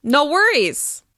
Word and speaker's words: no worries: me out no worries as you can hear the stress is on were no worries no worries be sure to rise to the stressed syllable and drop afterwards no worries no worries